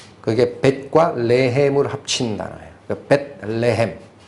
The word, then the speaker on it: 벳레헴: 벳레헴. 발음이 뭐하니까 베들레헴 이렇게 읽는데, 벳레헴, 레헴이 떡이에요. 베들레헴은 떡집이라는 뜻이고, 구약에 가보면 베델이라는 지역 있죠.